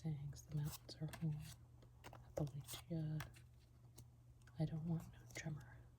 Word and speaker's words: Appalachia: I always say Appalachia, but clearly that's wrong. So Appalachia.